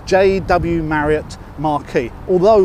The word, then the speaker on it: Marquis: desk its JW Marriott Marquis although spelt Marc Chris now Marquis is the French pronunciation of Marquess which means no woman